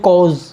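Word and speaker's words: corps: कॉज, इसका आर और P silent होता है तो इसको बोलते हैं कॉज, और इसका जो सिंगुलर है वो होता है कॉ, कॉ।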